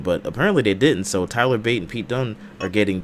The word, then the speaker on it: Tyler Bate: He said Tyler Bat is how you say his name. Tyler Bat. They said it on TV on SmackDown. Not SmackDown. Whatever that's not Bate. All NXT, I was hearing Tyler Bate. Yeah, they said Tyler Bat. I'm like, I thought it was Bate. That was Bat.